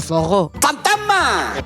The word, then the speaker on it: forró: O forró. Así pronunciado un poquito más a lo brasileiro.